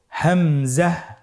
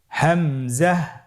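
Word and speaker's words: همزة: হামজা হরফটি উচ্চারণ ক্ষেত্রে বারিক করে উচ্চারণ করতে হবে এবং এখানে টেনে পড়া যাবে না, দ্রুত পড়তে হবে। আপনারা আমার সাথে বলুন হামজা। হামজা।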